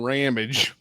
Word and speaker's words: Ramage: un originally or not his name is Brian ramage which rhymes with damage so um I met